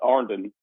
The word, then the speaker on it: Iron: There's a town called, you know, it's spelled like Iron, but uh, you know, we call it Ardan because that's who we are down here.